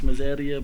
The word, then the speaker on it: Miseria: Everyone say Mazeria, but it's Mazeria.